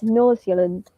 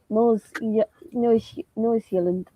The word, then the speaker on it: Nordsjælland: It's Nordsjælland. Nordsjælland.